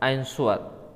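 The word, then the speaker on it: answer: देखिए साफ-साफ का 26 नंबर यह which is silent letter in द आंसर आंसर में मुख अक्षर कौन सा है इसमें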